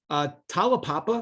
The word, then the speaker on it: Talapapa: Talapapa, is that how it's pronounced? Yeah, perfect. Nailed it.